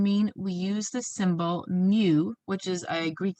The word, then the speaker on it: mu: about a population mean we use the symbol mu which is a greek letter m and we talk about the sample mean we use an x with a bar on top so again this is pronounced mu and it's the greek letter m it's a